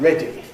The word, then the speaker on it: ready: Before we come back to tea, let's consider a D sound in a word like ready.